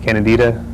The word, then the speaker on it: Candida: Candida, is that correct Yeah.